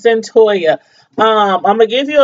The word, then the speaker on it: Cyntoia: I'm like, how do you pronounce that name? But anyway, it's Cyntoia.